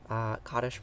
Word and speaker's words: Kaddish: But Kaddish is different from Kiddush. Kaddish pronounced that way most usually means this prayer of grief, this prayer of mourning.